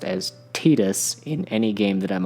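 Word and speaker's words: Tidus: from Final Fantasy X has only been officially pronounced as Titus in any game that I'm aware of, this doesn't seem so bad.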